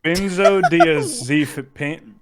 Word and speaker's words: benzodiazepine: Benzodiazepine. Benzodiazepine? I don't know how to pronounce Benzodiazepam, something like that.